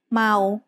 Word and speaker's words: เมา: So this word is เมา which means drunk. Sarao is a live syllable ending. So เมา is said with a mid-tone.